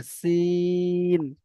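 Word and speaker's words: س: র, শিন, এটা শিন হবে না, এটা হবে সিন, সিটির মতো উচ্চারণ হবে, সিন।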